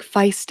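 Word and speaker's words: Faist: the role I also I didn't want Mike Feist is that how you say his name yes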